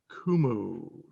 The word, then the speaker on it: Qumu: today is tj kennedy who is ceo of kumu it's spelled q-u-m-u as you can see behind him there but it's pronounced kumu tj welcome thanks chris great to be on